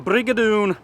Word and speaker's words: Brig o' Doon: we're at the Brigadoon the Brigadoon that's how you say it in Scottish in English it's the